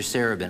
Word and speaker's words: Sarabin: I believe the correct pronunciation is Mr. Wisnowski and Mr. Sarabin.